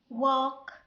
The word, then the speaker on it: walk: Most of the time the letter L pronounced, but we have some exceptions, some words that the letter L is silent.